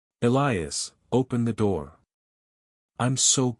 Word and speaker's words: Elias: The way she said my name with the slight emphasis on the second syllable, the long vowel, the particular rise and fall that no one else has ever duplicated. Elias, open the door.